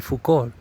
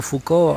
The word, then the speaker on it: Foucault: como este famoso Michel Foucault, creo que se pronuncia sin la LT del final, pues que ya estaban